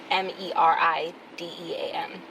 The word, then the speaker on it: Meridean: It's Meridian, but it's Meridean. So, like, Mary Dean.